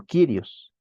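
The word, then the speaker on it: κύριος: sea el ladrón digamos otra palabra es kirios no se pronuncia curios ya hemos dicho verdad sino kirios señor amo dueño Jesucristo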